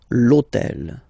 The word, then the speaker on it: hôtel: starts with H, but remember that in French we don't pronounce H, okay, so basically the first sound of the word is the vowel O, okay, so for the same reason, needs to disappear.